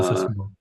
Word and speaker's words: Concertgebouw: I was going to mention again, my pronunciation might not be the right one, but the Concertgebouw, is that right? Yeah, the Uh, Concertgebouw.